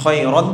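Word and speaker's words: خيرا: যেমন খায়রান ছিল, কি হবে? কি হয়ে যাবে? খায়রা। নাও, আর একজন ফিমেলের জন্য কি ব্যবহার করা হবে? জাযাকিল্লাহু খায়রা। ছেলেদের জন্য জাযাকা মানে বদলে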